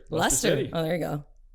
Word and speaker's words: Leicester: Just take out the I and the C and the extra E.